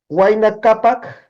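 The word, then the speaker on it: Huayna Capac: fácil es muy sencillo no existen palabras agudas todas las palabras son graves no Entonces waina capac no manco capac pacha cutec no nunca se acentúa la última sílaba siempre se acentúa la penúltima no especialmente si vanadar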